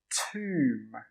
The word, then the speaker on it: tomb: And the last one is pronounced tomb, tomb, t-oom, t-oom. The B is silent again.